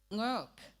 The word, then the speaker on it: Ngorok: So my name is Ngorok, Mrs. Ngorok. My husband is here with me today. Hi. And the K is silent because that's my father's